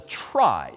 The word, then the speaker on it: trie: That's where this last structure comes in, which is called a trie, T-R-I-E, short for retrieval, even though it's pronounced the opposite.